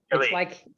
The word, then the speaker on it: Hilly: Hilly. It's like Billy, but with an H.